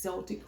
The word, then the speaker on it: Celtic: Celtic cross I think I'm probably the only one in the world that says Celtic cross instead of Celtic cross, but I pronounce it with a soft C, just like the basketball team.